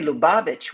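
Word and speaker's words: Lubavitch: Within Kabad, we also say Kabad Lubovich. We say Lubavich.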